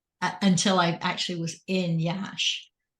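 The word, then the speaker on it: Iași: I actually was in Yash, which is pronounced Yash but spelled IASI.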